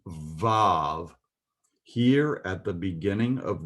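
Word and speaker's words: וָו: this is for the letter wow, as the New King James renders it. I believe it should be vav.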